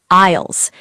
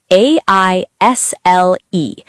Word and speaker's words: aisle: They are called aisles. A I S L E. Aisle. Be careful, the S is silent. You say aisle, not isle. Aisle. The S is silent, like the word island.